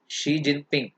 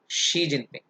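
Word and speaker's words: Xi Jinping: शी जिनपिंग, तो China में एक्स आई को शी बोलते हैं। देखो, या एक्स का प्रोनाउंसिएशन श के रूप में होता है, एक्स आई का श के रूप में। तो अब ये क्या है, ये शी है, शी जिनपिंग। जैसे शाओमी, एक्स आई ए ओ एम आई, अब ये जियाओ में नहीं है, दिस इज शाओमी। तो ये श का प्रोनाउंसिएशन जाता है एक्स का, तो इट्स शी जिनपिंग।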